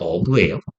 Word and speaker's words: herb: 영어 발음은 어브예요. H가 무금이에요.